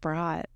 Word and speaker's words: Brodt: And that's B-R-O-D-T, B-R-O-D-T, I believe, right? Pronounced Brott.